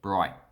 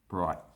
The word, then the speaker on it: Bright: but we say bright we usually don't pronounce the t or we start to pronounce the t but then we cut it off bright bright bright common thing that